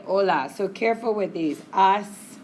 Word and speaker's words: hola: And we don't pronounce, H in Spanish. ¿Cómo se dice hi in Spanish? Hola. So we don't say hola, we say hola.